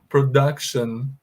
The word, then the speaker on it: production: Esse C, pessoal, vai ser pronunciado com o som da letra K, tá bom? E esse U pronunciam como se fosse um A com circunflexo.